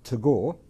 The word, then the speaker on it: Tagore: Now, this is how I can pronounce it. Rabindranath Tagore, T-A-G-R-R-E, was probably, the in modern times, the greatest, certainly greatest Bengali, probably the greatest Indian writer and poet.